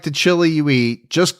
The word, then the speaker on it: Chili: It's not pronounced Chile. She grew up in Chili. I know it's spelled like Chile, but that's not how it's pronounced.